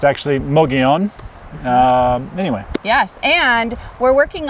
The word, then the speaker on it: Mogollon: wants to say Mogollon Melania but it's actually mo Gyan anyway yes and we're working on some content